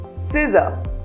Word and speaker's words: scissor: Whenever C and S are in a combination, then C is not pronounced. For example, scissor or fascinating.